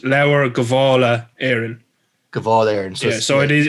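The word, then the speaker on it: Lebor Gabála Érenn: actual text is pronounced laura gavala aaron cavallier so it is it is an old spelling for something but it is kavala because uh technically h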